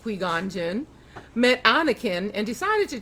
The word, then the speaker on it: Qui-Gon Jinn: A Jedi Master called Qui-Gon Jinn, pronounced Qui-Gon Jinn, met Anakin and decided to train him to be a Jedi.